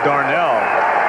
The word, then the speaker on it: Darnell: I think I said Darryl. I better say Darnell. He doesn't like that mispronounced.